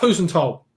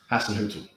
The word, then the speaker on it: Hasenhüttl: Ralph Husenthal, right, or whatever you say his name. Hasenhüttl. Yeah, there we go. You know the pronunciation.